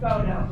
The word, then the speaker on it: photo: the word photo and we hear the sound and you might think oh that's going to be an F it is the ph sound photo so make sure you